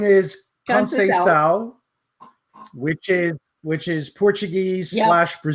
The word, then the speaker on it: Conceição: Her name is Conceição, which is Portuguese / Brazilian.